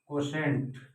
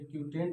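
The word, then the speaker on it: quotient: कोशेंट ये क्यूटेंट नहीं है, ये कोशेंट है इसका सही प्रोनाउंसिएशन। और इसको बोलते हैं शेषफल, यानी कि रिमाइंडर।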